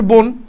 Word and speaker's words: বন: তুমি ইন্টারমিডিয়েটে পড়ছো না, অধ্বনির পর যদি দন্তন্য থাকে, দন্তন্য, তাহলে সেই উচ্চারণটা কি এর মতো হয়, ওর মতো হয়। তাহলে কি যে বন ওকার হিসাবে পর ন বন, এভাবে হচ্ছে সঠিক উচ্চারণ, ঠিক আছে। এটা হচ্ছে সঠিক উচ্চারণ বন।